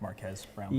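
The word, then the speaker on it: Marques Brownlee: I think it's pronounced Marquez Brownlee.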